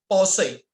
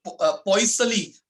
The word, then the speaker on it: Poiseuille: ये actually French pronunciation है, तो मैं जिसको फ्रेंच ज्यादा आती है वो मेरे से अच्छे से बोल पाएगा। तो पॉइसली डेफिनेशन जब आप पढ़ोगे उसका शायद स्पेलिंग तो पॉइसली निकलता है, बट किसी फ्रेंच स्टूडेंट ने मुझे सिखाया था, सर इसका प्रोनाउंसिएशन ये नहीं होगा, पॉसई।